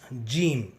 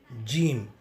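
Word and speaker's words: جيم: The letter Jeem has the same pronunciation like the letter J of English, J of Tamil and J of Hindi. To pronounce Jeem, you will have to flatten your tongue and stick it against the roof of the mouth and then say Jim, Jim.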